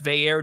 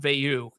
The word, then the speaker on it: Veilleux: It's Veilleux, not Veilleux, and that was a big one to get it.